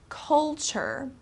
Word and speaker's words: culture: be difficult to pronounce culture okay this t r e uh becomes kind of like a CH sound so culture is the